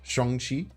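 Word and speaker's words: Shang-Chi: it's pronounced Sean is the correct way to pronounce it in Chinese Shong Chi um but in the Marvel movie uh Shong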